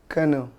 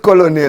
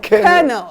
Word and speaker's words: colonel: Our next word is kernel. Ah. Hey. Ah, that one. That one. That one. I know. You know. Yeah. Not colonal. Not colonal. Colonel.